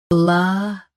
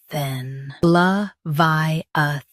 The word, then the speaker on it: Leviathan: Both US and UK have the same pronunciation of this word. Stress vi. Keep soft and finish with than clearly. LEVIATHAN. LEVIATHAN.